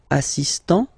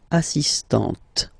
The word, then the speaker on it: assistant: Il est assistant. So don't pronounce the final t here. But for the feminine form, elle est assistante.